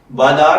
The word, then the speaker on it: بلاق: बलाग की उर्दू इमला में जो हर्फ इस्तेमाल होते हैं वो हैं बेज़बर लाम बल, लाम लिफ ला और कॉफ नुक्तों वाला साकिन है इसमें।